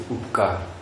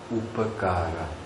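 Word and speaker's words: उपकार: The problem lies in the fact that in vernacular languages we are swallowing the last vowels. Even in between the words. For example, we say upkar. Say upakara.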